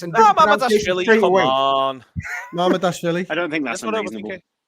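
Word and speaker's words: Mamardashvili: Like Mama Dashvili. Mama Dashvili. Right, well, we've all agreed then. Neil says it's easy, but there was 3 different accents and different Dashvili, come on. Mama Dashvili.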